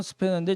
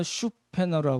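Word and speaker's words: Spener: 영어로는 스페너인데 독일 발음으로 슈페너라고 그러거든요.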